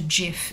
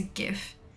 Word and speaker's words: GIF: format is wrong but it's not a gif it's a gif yeah you choose the